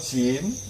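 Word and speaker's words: ج: Kalau jim itu dia tidak boleh keluar anginnya.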